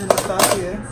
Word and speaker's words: Anastasia: Anastasia.